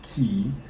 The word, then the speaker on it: Cay: Yes, C-A-Y is pronounced Key.